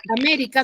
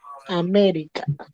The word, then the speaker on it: América: es una palabra grave Ahora yo digo que ese esdrújula que su mayor fuerza de voz está en la antepenúltima sílaba Cómo pronunciaré América amé esa suena mejor